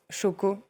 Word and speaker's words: Xoko: Mais dans une filière qui peut être très problématique comme le cacao, c'est un bonheur d'avoir des acteurs comme Choco euh qui s'écrit Xoko, mais c'est un bonheur de pouvoir les avoir avec eux.